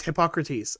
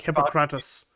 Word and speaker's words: Hippocrates: Oh yeah, it was Hippocrates, and you're like Hippocratus, and I'm like, shame Danny for his poor pronunciation.